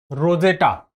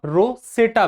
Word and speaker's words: Rosetta: कि कहा जाता है रोजेटा। रोजेटा भी कहते हैं और रोसेटा भी कहते हैं। उच्चारण की दृष्टि से अलग अलग जगह पर अलग अलग कह देते हैं, लेकिन मिस्र ने